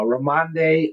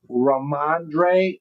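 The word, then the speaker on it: Rhamondre: Uh uh Ramande Ram Stevenson. Did I say it right? Let's see. Raandre Raandre Stevenson says he knew I was pretty close.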